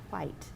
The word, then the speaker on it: white: They make fun of me for saying white. White. Yeah, because it's a WH, a what sound.